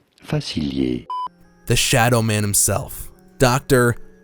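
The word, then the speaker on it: Facilier: Disney movie for reference in French it is said as Doctor fail the shadow man himself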